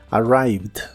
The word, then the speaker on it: arrived: la biodental y vibrante la e de esta palabra no se pronuncia solo la d del final arrived arrived y usaremos el